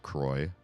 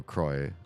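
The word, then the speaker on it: Croix: there like coin so Croy and coin must rhyme together in fact the company who makes the seltzer water says lroy it rhymes with joy somewhere on their website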